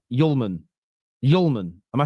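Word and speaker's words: Hjulmand: The D is silent like Okay, cool. I hear you. Someone says well said. That's well said. It's pronounced Yulman.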